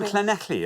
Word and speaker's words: Llanelli: So well, hello, Llanelli. Llanelli, hello. We've got Llanelli in a few times Well now.